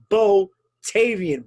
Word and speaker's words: Bo Tayvian: the blue chip none of the ccw's own bo tavian botavian welcome to the paradox my friend you